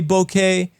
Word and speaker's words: bokeh: I say bokeh because it's the same pronunciation of the word in Spanish for mouth, so it just works.